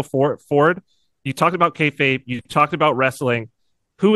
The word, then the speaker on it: kayfabe: just a couple things to consider I'm gonna butcher the term but it's the wrestling term k kab uh there's a term kayfabe kayfabe thank you kayfabe and it's like what is that right well